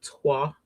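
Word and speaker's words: toile: like I love u like a tua I think is how you say it and I've I've mentioned this many times before t o i l e I love that type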